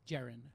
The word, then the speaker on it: Jaron: is Jaron Jaron yes so with the sea yes pronounced like a J Jaron okay three two go